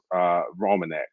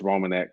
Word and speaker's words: Reimonenq: Tony and Liz Romanek. Their last name is spelled Reimonenq. And like I said, they're Tony and Liz Romanek from Hattiesburg, Mississippi.